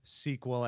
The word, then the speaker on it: SQL: character all right SQL in my SQL or sequel and my sequel or some combination is its